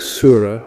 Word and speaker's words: Surah: a Surah a Surah in Arabic Surah with a sharp s that's probably developed from